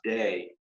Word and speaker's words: D: is a d and the letter d is pronounced day in german and so the the